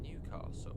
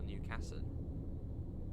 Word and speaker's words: Newcastle: But then, what about Newcastle? Is it Newcastle or Newcastle? Because I've heard it both. Yeah, Newcastle or Newcastle. Newcastle, sort of a silent S. Not silent S. But softer S.